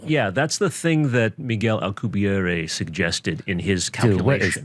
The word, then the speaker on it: Miguel: And by the way, you pronounced it in a French way, but he's Spanish or Mexican. Mexican. He's oh, Mexican. really? Yeah. Oh, so it's just like, Michel, what's up, Vato? Miguel.